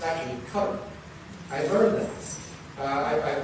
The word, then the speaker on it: Qatar: They uh, matter of fact, IQ is not actually the way to pronounce it. It's actually cutter.